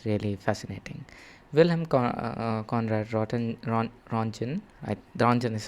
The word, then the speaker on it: Röntgen: Wilhelm Conrad Röntgen, Röntgen is how his name is pronounced, I hope, I think so, was a German physicist who was experimenting with cathode rays.